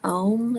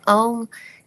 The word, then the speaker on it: Om: So Om, in its three syllables, um, represent like the